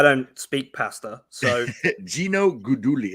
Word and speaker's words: Guidugli: And then you've got, I can't pronounce his name, but your offensive coordinator, Gino Gudaligui. Gino Guidugli. He's a former Bearcat quarterback. I don't speak pasta, so Gino Guidugli.